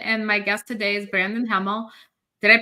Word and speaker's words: Brandon Hemel: my guest today is Brandon Hemel. Did I pronounce it right?